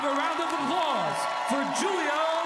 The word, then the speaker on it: Giulio: are like it's Julio Julio and I'm like no no it's Julio it's spelled with a G and You' think at